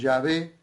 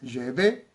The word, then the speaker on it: Yahvé: Así que para nosotros es Yahvé, con una pronunciación más hacia la E, más Yahvé, pero lo vamos a pronunciar tal y como podemos, sin ser judíos.